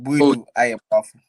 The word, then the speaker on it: Boadu-Ayeboafoh: But let me help you out. So then Boadu-Ayeboafoh.